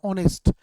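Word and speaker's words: honest: तो यहाँ पे देखिए माइंड इज ए नाउन और नाउन से पहले दिया है ऑनेस्ट, ये एडजेक्टिव है। हम देखेंगे एडजेक्टिव का एज साइलेंट है और इसका उच्चारण वॉवेल की तरह हो रहा है।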